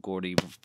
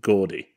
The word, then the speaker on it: Jordy: So next we have The Lonesome Death of Gordy Verrill. Yeah. Is it Gordy or Jordy? I think it's... I mean, it's spelled with a J. Yeah, but I've heard Stephen King pronounce it Gordy.